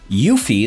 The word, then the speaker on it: Eufy: we are covering the yuffie that's right the e is silent by anker it is